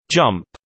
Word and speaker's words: JMP: JMP, pronounced jump, is a suite of computer programs for statistical analysis developed by the JMP Business Unit of SAS Institute.